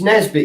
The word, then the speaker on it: Nisbet: No, it's Nesbit, yeah, but it's spelt Nisbet. Nisbit.